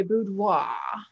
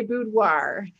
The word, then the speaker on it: boudoir: So, if you want to be fancy in French, you can say boudoir. But most Americans say boudoir.